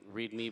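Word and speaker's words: REAMDE: It's like read me but then Oh.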